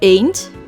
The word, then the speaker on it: Eend: is in the word a't which translates to duck in English and sounds exactly the same as the English letter A ain't I as in